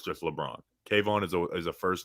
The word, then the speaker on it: Kayvon: but no actually no Kayvon is just cave on Kevin's kavon's a first name guy true two syllables is cave on we don't need to